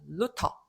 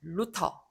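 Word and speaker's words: Luther: 루터 이렇게. 자, 요 T하 TH 영어식으로는 요 발음은 the가 아니고 트 발음하시면 됩니다. 자, 루터.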